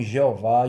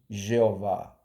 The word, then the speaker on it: Jeová: Ao passar do tempo, com o surgimento da letra J, né, esse nome Yehová foi aportuguesado, né, para o nome Jeová. Agora você está sabendo por que em algumas versões vem o nome Jeová.